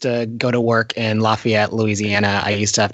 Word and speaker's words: Lafayette: It's Lafayette. Lafayette.